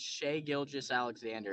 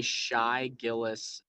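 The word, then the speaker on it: Shai Gilgeous-Alexander: and by the way it's shay gilgis alexander you say shy gillis something every time and a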